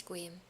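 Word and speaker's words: Sequim: It's squim? Squeam? That just looks like a abbreviated version of Skyrim. It's Squeam.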